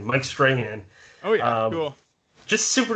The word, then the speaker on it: Strahan: is mike strahan uh mike strange i always butchered his last name mike strahan oh yeah cool just